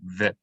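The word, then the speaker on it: וְ: That shva is vocalized as an e vowel, so ve.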